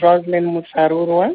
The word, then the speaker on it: Roselyn Musarurwa: well Jo as you said my name is rosin murua you got the pronunciation right thank you I'm an entrepreneur from